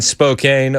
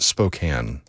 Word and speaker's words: Spokane: An arsonist has been arrested in Spokane, Washington. Chris, sir, sorry. Before you continue, my family would be very remiss if I did not address this. Uh, it's pronounced Spokane.